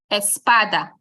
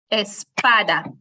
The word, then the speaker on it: espada: Espada or something like that we say Espada so with your mics muted I want you to repeat Espada now this time you're going to say it again and snap your finger on the syllable when you get to PA you'll do something like